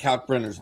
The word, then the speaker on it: Kalkbrenner: I love your commitment to pronouncing the L in Kalk.